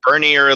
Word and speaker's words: Bernier: Am I pronouncing your last name right? For everywhere but Maine, yes. People say that. It's Bernier, Lafreniere, Lapellier.